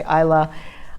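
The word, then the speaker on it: Islay: to go there for ilay hopefully I'm saying it right I've always said I lay then I heard people say Isla island off of the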